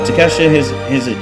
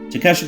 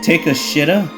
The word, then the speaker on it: Takeshita: Oh, by the way, MJF mispronounced this man's name, by the way. I forgot to mention. He said, take a shitta?